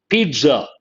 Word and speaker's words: pizza: ZZ is pronounced as TZ. Imagine the spelling is Pitza. Then how do you pronounce pizza?